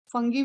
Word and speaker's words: fungi: फंगी भी कुछ लोग प्रोनाउंस करते हैं, ठीक है, मैंने अपने क्लास के टाइम से ही फंजाई पढ़ा हुआ है, तो मैं फंजाई बोलती बेटा।